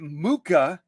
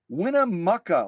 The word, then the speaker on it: Winnemucca: winamaka I would never I was giving it mooka like mocha Winnemucca like muck muck is yeah I mean